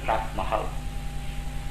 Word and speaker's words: Taj Mahal: De Vrindavan fuimos a Agra, famosa ciudad de Agra, famosa por su arquitectura, belleza de Taj Mahal, que ustedes pronuncian Taj Mahal.